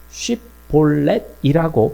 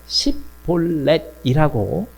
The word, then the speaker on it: 쉬볼렛: 그런데 쉬볼렛이라고 발음하지 못하고 폴볼렛이라고 어 하면 이들은 아 길르앗 사람이 아니라 에브라힘 사람이다라고 판단을 한 것이죠.